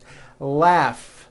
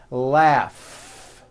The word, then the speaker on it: laugh: a strong R Freedom laugh notice the GH combination in that word laugh telephone notice the pH